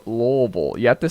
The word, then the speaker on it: Louisville: one more time Louisville it's not how you say it you know you know how you pronounce it it's a really weird word to pronounce Louisville no you ready I got to gear up for this Bob all right take your time go through your preparation Lille lville no it's Lal you have to say